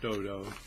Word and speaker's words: Dodow: Some people you see it pronounced all kinds of crazy ways. Dodow, Dodow. No, it's just Dodow. Don't overthink it.